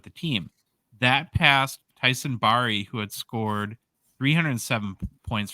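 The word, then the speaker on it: Barrie: r r i e So it's b a i r- re is the pronunciation so Barry okay yeah Barry yeah bear B A yeah Barry there we go sure people are loving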